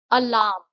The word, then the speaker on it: alarm: अलार्म, इसमें आर जो है वो साइलेंट है.